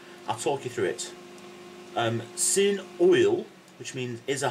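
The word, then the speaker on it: sy'n: Sin, that's quite, yeah? S-Y apostrophe N, sin, yeah?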